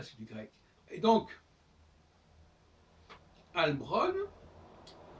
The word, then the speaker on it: Halbronn: Et donc, Albron, c'est une tentative de prononciation masculine de la forme EI, Heilbron, H-E-I-L, qui renvoie à Heilen, Heili, etc., qui veut dire guérir, etc.